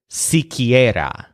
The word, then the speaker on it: siquiera: at least some air the word for at least is C Kiera so the stress syllable is on air so C Kiera for